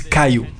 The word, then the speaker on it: Kyo: Donc Kyo, ça s'écrit K-Y-O, I-T-A-C-H-I. Et j'aime bien parce que quand les Canaries disent Kyo, ils disent Kayo.